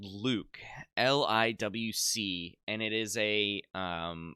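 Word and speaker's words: LIWC: But Luke, L-I-W-C. I don't remember. L stands for language. I don't remember what the other letters stand for, but it's pronounced like Luke, L-U-K-E, right?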